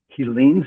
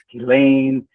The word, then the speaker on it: Helene: It was just a few moments ago that I learned how to actually pronounce Helene's name. And I've always been calling her Helene, Helena, but now I know it is Helene.